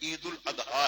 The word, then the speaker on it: عید الاضحیٰ: بھی ہے۔ عید الاضحیٰ، یہ اس کا اصل پروننسیشن تلفظ جو ہے عید الاضحیٰ ہے، عید الاضحیٰ، اور اسے عید